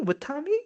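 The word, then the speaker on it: Witamy: have found that I don't know like I'm pronouncing it right or not. It's something called Vitami. Vitami.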